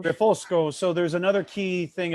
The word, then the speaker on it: Refosco: And just to clarify, it's Refosco. That's So how you say it in Italian. Refosco.